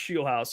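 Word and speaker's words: Scheelhaase: I just learned that it's pronounced Scheelhaus, so that's really good for me. Yeah, by the way, just my big takeaway. I had to make sure it was pronounced Scheelhaus.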